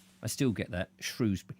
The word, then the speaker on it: Shrewsbury: It's not Shrewsbury. All the idiots in Shrewsbury have a go at me because I say Shrewsbury. And actually, I know that Shrewsbury is the correct way of saying it because I know an old family who lived in Shrewsbury for generations. And it's got nothing to do with shrews, but they're not shrewd enough to know.